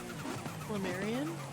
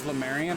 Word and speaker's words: Marion: name by the way Marion okay okay I didn't know if it was lemarian or Lemurian the Marion okay